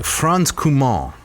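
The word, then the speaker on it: Franz Cumont: licensing rights right so forth yeah so uh franz kumar yes did i pronounce that correctly yes yeah frenchman yes what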